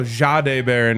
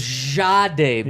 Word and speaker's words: Jahdae Barron: What I love about Jahdae Barron, and you could even go Jahdae Barron if you want to get real correct with the pronunciation. A little Z at the front. That's what Sean gave us. He gave us a very French way of saying Yes.